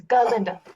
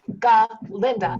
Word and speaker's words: Galinda: in ginda I am holding space for the god in galinda it's galinda G Linda I don't know why